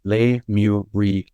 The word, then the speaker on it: Lemuria: Lemuria is 4 syllables. Lemuria. So there is a code of le, there's a code of mu, there's a code of re, and there's a code of ah.